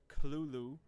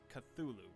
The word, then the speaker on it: Cthulhu: a note on pronunciation Lovecraft himself gave several different pronunciations of the creatur's name throughout his life including culu guttural first syllable the most common pronunciation however is cthulu popularized much later after lovecraft's death okay the truth of